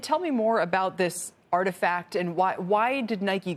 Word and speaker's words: RTFKT: adidas nike has purchased rtfkt pronounced artifact studios they have purchased